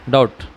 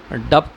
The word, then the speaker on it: doubt: वो कर रहा हूँ, यानी ये पढ़ो आप, डाउट, इसमें बी साइलेंट है, डाउट है। डप्ट होता था, अगर इसको बी में लाएंगे डप्ट होता, डप्ट के कोई मायने नहीं है, डाउट।